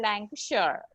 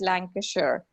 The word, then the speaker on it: Lancashire: Some people do call it that way, but usually Britishers call it Lancashire.